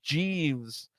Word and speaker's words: JVSK: Then Dasha, the ring announcer, says that VSK's new name is Jeeves. Oh my gosh. It's spelled JVSK.